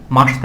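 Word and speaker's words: ました: মাস্তা কি দিতে হবে মাসতা দিতে হবে তাহলে এখানে আমরা লিখতে পারি হচ্ছে তাবে মাসিতা এটা উচ্চারণ করার সময় আসবে হচ্ছে মানে লেখার সময় আসবে হিসাবে মাসিতা কিন্তু জাপানিজরা মাসিতা বলে না এটাকে বলা হয় মাসিতা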